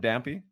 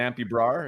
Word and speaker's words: Dampy Brar: Is it Dampy? Yeah, perfect. Dampy Brar, is that a proper pronunciation?